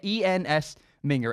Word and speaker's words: Ensminger: to say his name is harder it's a ENS minger Ensminger Steve Ensminger is the offensive coordinator LSU